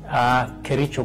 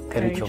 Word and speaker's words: Kericho: How do you pronounce the name? Kericho Gold. Kericho Gold.